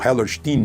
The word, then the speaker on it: Hellerstein: O juiz se chama Alvin Hellerstein ou Hellerstein, como os americanos pronunciariam, né?